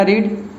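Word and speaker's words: read: We have पढ़ चुके हैं, पढ़ने का रीड, और रीड का तीसरा रूप होता है रेड। स्पेलिंग वही होता है, बस उसको हम लोग रेड पढ़ते हैं, प्रोनाउंसिएशन चेंज हो जाता है।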